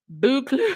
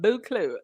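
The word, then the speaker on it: Buccleuch: Lightside, you said, it's pronounced Buclu. The Earl of Buclu.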